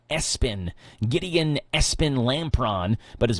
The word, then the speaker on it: ESPN: His family pronounces that Espen Gideon Espen Lampron, but his middle name is all capitalized, just like the ESPN network, ESPN.